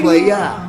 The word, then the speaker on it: playa: There's no R. Ooh, It's daddy. playa. It's playa, baby. Like playa, like the beach.